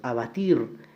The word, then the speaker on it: abatir: Abatir, la mayor fuerza recae en la última sílaba, por lo tanto sí es una palabra aguda.